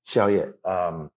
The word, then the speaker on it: Xiao Ye: How do you pronounce it? Yeah, exactly. Yes, Xiao Ye.